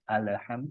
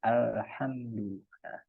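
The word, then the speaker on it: الحمد: tadi Eh beberapa notesnya alnya tidak memantul ya bukan alham tapi alhamdu h-nya di sini Ha bukan Ha ee dan di sini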